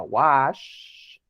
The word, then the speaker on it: wash: si se dan cuenta, suena como si al final dijéramos así de que, shh, cállate niño. Así. Entonces, el chiste del wash es que el sonido es un poquito más alargado.